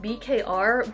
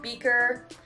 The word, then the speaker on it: BKR: called so at first i thought it was pronounced bkr but it is pronounced beaker um it is a glass water bottle that's